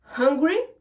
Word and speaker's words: hungry: bien les deux mots, je vais bien prendre ma respiration quand je vais prononcer la lettre H.